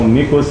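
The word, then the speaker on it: Nyquist: البولر اللي هو النايكوست او النيكوست زي ما الناس بتنطقه يعني ده بيعبر عن الجزء الايماجينري والريل بتاع الجي او جي اوميجا ان بولر فورم يعني انجل وماجنتيود.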